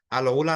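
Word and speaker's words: العلا: তো এই প্রদেশের অন্তর্ভুক্ত হচ্ছে আপনার এই আল উলা নামে, আল, এটা হচ্ছে আপনার ওলা, এরকম আর কি বানানটা হয় আইন দিয়ে। আল ওলা নামে একটা এলাকা আছে, এরিয়া আছে।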